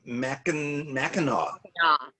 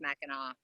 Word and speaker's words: Mackinac: It's Mackinac. Yeah, it's spelled Mackinac, but it's pronounced Mackinac.